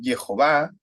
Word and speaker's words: Jehová: su nombre seremos Salvados ahora algunos le dicen yagüe yo utilizo muy seguido también yehová que es con la pronunciación mis amados masonética que se que fue encontrada está puntuación y por eso es yehová eso amados hermanos pero